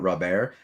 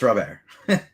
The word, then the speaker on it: Robert: me tell me it's louise robert and not rob air no it's not it's robert are you are you sure i'm not a